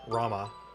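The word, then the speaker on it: Ramuh: welcome dad I actually don't know why I always called him rum even though it's obviously Rama it's just one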